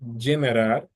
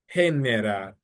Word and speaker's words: generar: So for example, the word generar, which is to generate, generar. No, it's not generar, but generar.